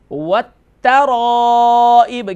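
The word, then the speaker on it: وَالتَّرَائِب: نصلب من بین الصلب و ترائب. والترائب، کیونکہ تا جو ہے ڈبل لیٹر ڈبل ساؤنڈ ہے، اس پر حرف مشدد ہے.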